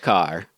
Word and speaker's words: Kerr: So according to the trailer voice guy, looks like Kerr, sounds like Carr. He must be right. Yeah. Deborah Carr.